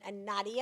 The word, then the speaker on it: Nadia: Her name is Nadia.